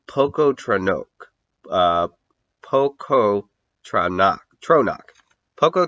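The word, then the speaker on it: Pocoughtronack: a mighty nation called Poco trono uh poo trono trono Poco trono yeah actually I think it would be pronounced poku trono because of the GH there uh spelled p o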